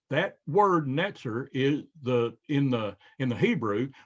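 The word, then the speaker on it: נצר: pots it's it's the the t z or the ts sound at the end of pots is is how the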